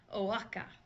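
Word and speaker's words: Oaxaca: be pretty high and it is pronounced o Wacka Wacka Wacka the next two words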